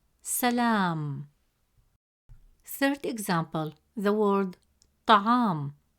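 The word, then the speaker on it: طعام: Third example, the word ta'am. In the word ta'am, meaning food, the letter ayn has a fatha vowel, which gives it a short a sound, pronounced as a.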